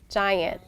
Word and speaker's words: giant: G makes sometimes a just sound at the beginning, like in the word giant.